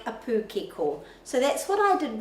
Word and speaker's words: pūkeko: So we say pūkeko, but the pronunciation of the letter O in Te Reo Māori is o, pūkeko, pūkeko.